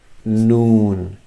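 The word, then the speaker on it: نون: not ne, not nu, but the name is noon, as in N-O-O-N, noon, as a noon time in the day.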